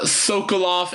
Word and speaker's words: Sokoloff: Yeah, Marla Sokoloff. It's Sokolloff for anyone who's trying to Google it.